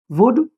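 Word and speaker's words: would: Cooled और वुल्ड और शुल्ड नहीं बोलेगा कभी भी। ये रहेगा कुड, वुड और शुड।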